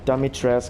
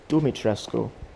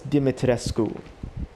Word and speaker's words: Dimitrescu: say the name it's not dummy tress it's not dummy it's not french for sake it's dimitrescu as a european myself that's how i would say it wait and probably that